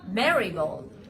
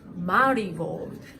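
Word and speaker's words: Marigold: knows best it's Julia it's not marold it's Mar gold it's marold okay even got a finger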